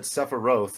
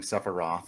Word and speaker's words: Sephiroth: But I was like, no, in katakana, because I was like learning Japanese when Advent yeah, Children came out. I was like, yeah. no, but it says it's an O sound. But Sephiroth, I've come back.